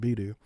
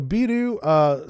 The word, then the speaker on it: Beidou: It's probably pronounced different, but it's spelled Beidou, and I think that sounds cool, so I'm going to call it Beidou. So Beidou, spelled B-E-I-D-O-U for those